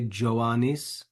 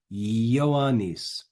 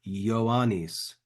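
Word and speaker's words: Ioannis: that one don't say joanis yanis in in Latin that letter that looks like a j is actually an uppercase I so really this name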